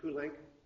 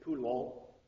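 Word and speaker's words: Poulenc: in the music of Pink uh it looks like he should be pronouncing it pul but uh I've heard people say that he himself pronounced as pink don't know why uh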